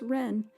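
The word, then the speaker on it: 人: It's just pronounced ren in Chinese.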